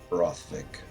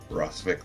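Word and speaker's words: Rothvik: know this Lich do you know his name rothic Roth Vick the rting Roth viic how do you spell that r o t h v i k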